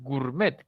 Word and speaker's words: gourmet: norma extranjera de acuerdo aquí nadie dice gourmet decimos gourmet casi desaparece la O solamente queda la u cuando es un diptongo